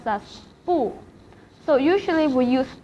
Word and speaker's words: 不: it will be 不想不想 Because it is followed by a third tone, so 不 will be pronounced as 不 in fourth tone.